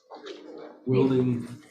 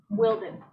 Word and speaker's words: Wilden: Wilding, is that how it's actually pronounced? Wilding or Walden? Wilden.